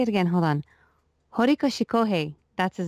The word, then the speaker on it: Horikoshi Kohei: Horikoshi Kohei, that's his name, yeah.